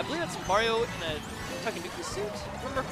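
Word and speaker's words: Tanooki: I believe that's Mario in a Takenouki suit, if I remember correctly. Is that pronounced correctly? Yeah, it's like a Tanuki.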